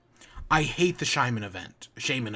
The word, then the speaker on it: Shaymin: hate the shimon event shaymin event did i call it shimon shaman that that one